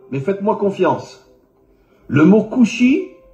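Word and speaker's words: כושי: En hébreu, le mot noir se dit couchi. Alors bien sûr, vous ne connaissez pas l'hébreu, mais faites-moi confiance. Le mot kushi s'écrit en hébreu kaf vav shin yud.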